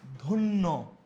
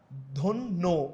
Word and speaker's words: ধন্য: অন্তবর্ণে জফলে যুক্ত হলে সেটির উচ্চারণ ওকানান্ত হয় যেমন ধন্য কি বলছি আমরা ধন্য ওকার হচ্ছে দেখ শস্য শস্য ওকার হচ্ছে